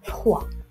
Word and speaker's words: froid: Et froid, c'est la lettre D.